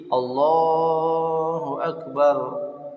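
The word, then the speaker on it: الله أكبر: Taskinur ra, mensukunkan huruf ra, Allahu Akbar, ya. Au fathuha, atau difathahkan membacanya pada takbir pertama. Wa taskinuha, kemudian mensukunkannya fi takbiratis tsaniyati, pada takbir yang kedua. Jadi Allahu Akbar, Allahu Akbar, itu sukun semua kan, ra-nya dimatikan bacaannya.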